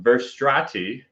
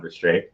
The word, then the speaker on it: Verstrate: Hey, John Verstrati. I said his name wrong for months before he corrected me, John Verstrate.